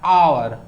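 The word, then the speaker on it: hour: आवर जो है इसका जो प्रोनाउंसिएशन होता है आवर, अ होता है ना, तो यह एक वोवेल साउंड वर्ड है, तो इसीलिए इसके पहले आर्टिकल एन जो है से यूज किया जाएगा।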